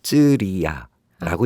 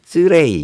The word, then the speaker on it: ceria: 그래서 이거를 인도네시아에서는 쯔리야라고 읽습니다. 쯔리야. 이게 그냥 그대로 읽으면은 이제 인도네시아 표현이 되는데 이게 이제 저희는 외국어를 배우는 입장이니까 저는 저 단어를 못 이해하고 항상 쯔레이 이런 식으로 이제 저 반대로 쯔라이 네네네.